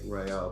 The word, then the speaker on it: Raya: Raya. Yeah, Raya. Like Okay, a ray of got it.